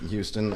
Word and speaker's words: Houston: Same shit, We're really against H's in Houston and Humble. We don't pronounce them. So, The silent H? Oh. Houston.